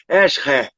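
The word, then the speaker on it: עזר: é transliterada como esi a pronúncia seria algo parecido como hair e aí é essa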